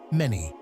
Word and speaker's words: Meni: The second is Meni, pronounced with a short E, and the third is what Manetho mentioned, Aha, meaning the warrior.